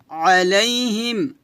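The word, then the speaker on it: عليهم: এখানে কিন্তু আইন আছে দুইটা আইন উচ্চারণ করে একটু চাপ দিয়ে বলবেন আলাইহিম আলাইহিম এভাবে আবার পাতলা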